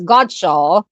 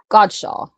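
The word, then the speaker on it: Godchaux: Guo is Godshaw and it was a department. Oh, so like a dealer, so like a department store. Okay, thank you. Thank you very much. Godshaw.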